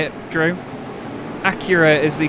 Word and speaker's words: Acura: Acura is the correct way with it being an American brand. That's how the Americans say it. I say Aura, but it's Acura.